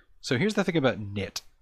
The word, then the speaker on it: Knytt: is knit and I tried to look it up and I kept on Googling it and I was spelling it wrong because it spelled like this k n y t t so yeah also yeah